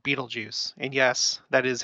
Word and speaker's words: Betelgeuse: right side of Orion's shoulder and it's called Beetlejuice and yes that is how it's pronounced Beetlejuice and we've talked about this star before it